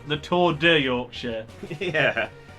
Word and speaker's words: Yorkshire: Yorkshire. The R is silent. But yeah, so the Tour de Yorkshire, big cycling event.